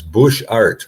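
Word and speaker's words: Butchart: And then we went to the it's I'm I I was told the pronunciation is bush art like it's two words.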